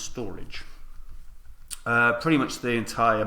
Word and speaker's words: Storj: Right storage or as it's meant to be pronounced storage uh pretty much the entire Max total supplies